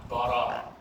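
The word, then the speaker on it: ברא: because I know it, that word would then be read bara, which means he created, and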